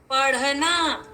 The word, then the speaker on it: पढ़ना: जब हम टमाटर वाले इस ट वर्ग में पढ़ेंगे तो ट ठ ड ढ ढ, लेकिन जहां बिंदु लग गया तो उसका उच्चारण हो गया ढ। पढ़ना, पढ़ना।